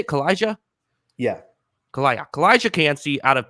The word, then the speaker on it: Calijah: Because Calijah Kancey, is that how you say it, Calijah?